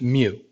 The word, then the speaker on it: mu: denote by this greek letter for lowercase m pronounced mu so this thing that looks like a u with a tail on is pronounced mu and that stands for the population mean the